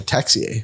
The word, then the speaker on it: Texier: But the other 2 on that list are Sean Monahan and Alexander Texier, I believe is how you say his name, right?